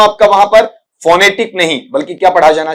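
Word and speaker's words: phonetic: अब इसका उच्चारण फोनेटिक नहीं पढ़ेंगे बेटा। जब भी पढ़ते हो तो फोनेटिक की बजाय क्या पढ़ा जाना चाहिए उसे आपका वहां पर फनेटिक ठीक है फनेटिक वहां पर बोला जाना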